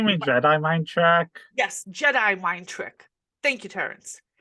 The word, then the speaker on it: Jedi: Yes, Jedi mind trick. Thank you, Terrence. Jedi. It's called Jedi. Get the pronunciation right.